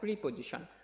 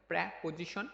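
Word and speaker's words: preposition: ঠিক আছে, এবার দেখো প্রিপজিশন, অর্থাৎ এইটার উচ্চারণ হবে প্রেপজিশন, অনেকে প্রিপজিশন বলে থাকে।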